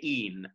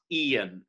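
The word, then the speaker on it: e'en: vestal modesty so even alights to one syllable spell it e e n it's the most helpful and be careful that if you want it to be one syllable you have to say in not ian if you turn it into ian you might as well have kept it even um and again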